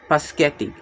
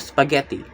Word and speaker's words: spaghetti: And then the next is another child kept saying paschetti instead of spaghetti. This is a metathesis.